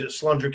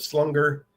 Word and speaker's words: slunger: I got my Slunger Cat Outdoors shirt. Guess who named Slunger Cat Outdoors?